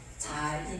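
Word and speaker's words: זין: 그러니까 영어로 쓰는 발음을 Z 발음이 난다고 이렇게 자인 이렇게 자인 이렇게 되거든요.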